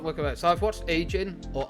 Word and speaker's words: Ajin: So I've watched Ajin or Arjin. I know it's pronounced Arjin in the actual anime, so I'll go Arjin.